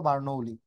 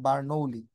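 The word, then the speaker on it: Bernoulli: থাকে করতে থাকে এটা বইয়ের ব্যাখ্যায় পেয়ে যাবা বার্নোলি এটা বার্নোলি বার্নোলি উচ্চারণটা এরকম বার্নোলি গ্যাসের গতিত্ব অনুসারে অনুগুলোর সংঘর্ষ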